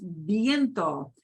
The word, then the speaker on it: viento: There is a word viento, viento, but notice it's not V-E-I, it's V-I-E, so it's pronounced viento, means Viento.